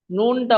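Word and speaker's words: نون: নুন, নুনটা উচ্চারণ হবে, প্রথমে দন্তন্য হ্রস্ব হবে, আর টান দিয়ে শেষে গিয়ে আবার দন্তন্য হবে, নুন।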